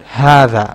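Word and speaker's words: هذا: be pronounced like but it's not pronounced like that it's pronounced like this like this word hatha okay like this okay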